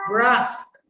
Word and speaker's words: brusque: ब्रास्क, ब्रास्क, BRUS को ही बोलना है, ब्रास्क। QUE का प्रोनाउंसिएशन आपको वहां पे नहीं लगाना।